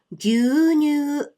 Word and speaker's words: 牛乳: So 牛乳 looks like this in hiragana.